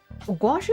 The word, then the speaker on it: gouache: Gouache is spelled weird. The way I see it is like go a g o u a c h e. Maybe because you think of squash. gouache and squash.